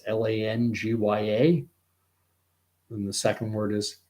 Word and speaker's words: Langya: but I'm going to call it Langia henipavirus. It's Langya.